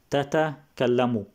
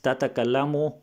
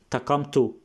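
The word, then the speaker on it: تتكلم: The correct word is tatakallamu. The correct word is tatakallamu, but Benny Lewis, he will say takamtu.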